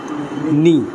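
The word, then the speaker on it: knee: এন এ দন্তন R double E থাকলে সেটার উচ্চারণ হয় দীর্ঘকার তাহলে কি হল নি কথা ক্লিয়ার বুঝতে পারছো দেখ এখানে প্রতিটা শব্দের শুরুতে কেন রয়েছে এজন্য আমরা এখানে ন দিয়ে শুরু করছি নাইট নলেজ এবং নি কথা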